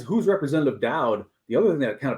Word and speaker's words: Daudt: And I think that's now, you always pronounce it Daudt. It's Daudt.